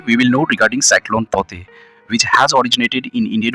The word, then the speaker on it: Tauktae: It is pronounced as Taute. K will be silent here.